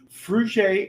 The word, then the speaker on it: Fruge: Today we have Mia, the director of Fruge LLC.